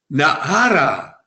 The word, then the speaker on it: Naara: Nahara. Наара. Alors, on peut prononcer comme on veut, Nahara. Il y en a qui disent Nahara, il y en a